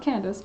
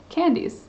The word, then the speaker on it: Candice: It's not Candace or Candace, it's Candace. Fair. No one says it right. Oh, no one says it right? How is it? Is it Candice? Candice. Really? Your name is pronounced Candice.